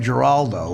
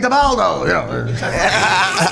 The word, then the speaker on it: Giraldo: But Levy at the end, of course, mispronounced Greg DeBaldo. DeBaldo. And it was the biggest. The first line when I went up there, I said, "Thank you, Bob. Don't worry about mispronouncing Greg's name. You're just one of 4,000 people in show business who's never said the name Greg Giraldo."